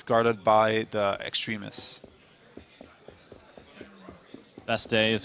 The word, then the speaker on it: Bastille: was overthrown so it's guarded by the extremists best day is how you properly pronounce best deal best team bestily close enough